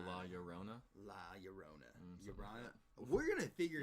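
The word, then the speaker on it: La Llorona: tuesday yeah tuesday origins two l's make a y sound okay so la yorona la yarona we're gonna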